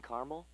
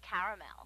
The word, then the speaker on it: caramel: I'd like it in Carmel actually you said Carmel when it's pronounced caramel can't we just call